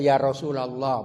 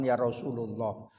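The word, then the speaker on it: يا رسولَ الله: ya bukan Abu makanya baca Ya Rasulallah bukan Ya Rasulullah karena munada mudof kadang ada orang suaranya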